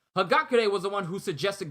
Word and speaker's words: Hagakure: nico or someone else someone told me in my last reaction that hakagare hagakure i'm to get her name right i'm never going to mispronounce it again hagakure was the one who